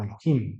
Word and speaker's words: Elohim: podríamos decir en hebreo palabra Dios proviene del hebreo Elohim que sería un poquito más correcto pronunciarla de esa manera preguntarán por el camino